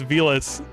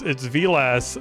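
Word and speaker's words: Villads: Apparently he was like, it's Vilas, it's Vilas, but the D is with a D, but the D is silent.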